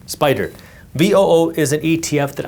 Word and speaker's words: SPDR: By the way, Spider is SPDR, pronounced Spider.